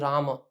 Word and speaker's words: Rama: So I feel Rama is the correct pronunciation, but we should be saying it Rama.